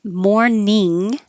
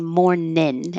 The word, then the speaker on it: morning: that fits best um morning is the ing in the back of the throat so it touches up high morning and that won't have the connection with everybody but you can make morning more casual by saying morningin and then your tongue is in the front to make the in and that can connect